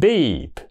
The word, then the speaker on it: beep: ờ đó đó nó chỉ đúng chưa nó đọc là beef beef là thịt bò còn cái chữ thứ hai là beep be thì nó cũng là cái bờ bờ